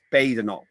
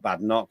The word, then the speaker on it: Badenoch: It's Badenoch, not Badenoch.